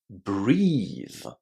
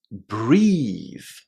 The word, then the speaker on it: breathe: Breathe. Breathe. So, not only is there a long e inside this word, but also the letters th in that ending are pronounced in a voiced way exactly in the same